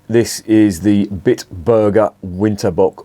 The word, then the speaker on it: Winterbock: is the bit Burger winter book or winterbock if you're gonna pronounce it in German this is a Bok